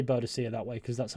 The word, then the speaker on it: Boadicea: I say Boadicea that way because that's how it's pronounced in game.